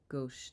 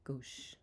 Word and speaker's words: gauche: Pronounce gauche. Thank you. Rude arrogance. Thank you, Helen. Gauche.